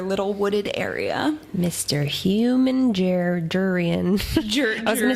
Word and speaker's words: Jurian: Human Jurian. I was going to say Jarian. Yeah, you know. Jurian. Watch it be Jarian the whole time. No, in the audiobooks it's Jurian, right? It is Jurian.